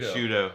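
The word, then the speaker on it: Sciutto: Shudo. Shudo. Okay, that's like pudo.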